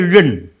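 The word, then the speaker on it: 忍: Itu bacanya ren. Ren. Ya, jangan ren. Tambah nai juga boleh, nggak tambah juga boleh.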